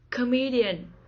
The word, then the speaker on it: comedian: the first syllable saxophone comedian comedian the stress is on the second syllable comedian comedian poet poet